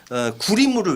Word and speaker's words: 구리무: 그리고 크림을 일본식의 발음인 구리무를 외쳐요.